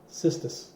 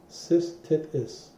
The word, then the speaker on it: cystitis: It is actually called cystis, if I'm pronouncing it correctly. Cystis. Cystitis. Cystitis is a medical term for inflammation of the urinary bladder.